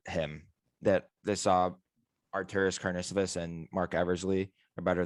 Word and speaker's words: Karnisovas: Carnivorous? Karnisovas. Carnisovas?